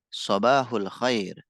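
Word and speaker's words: صباح الخير: Sobahul khair. Jadi baknya ditekan.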